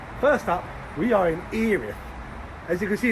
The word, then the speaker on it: Erith: up we are in eth as you can see it's spelled e r i t h but has pronounced eth not erth eth this is the third